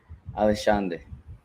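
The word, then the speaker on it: Alexandre: The X is a sh in Portuguese. Alexander.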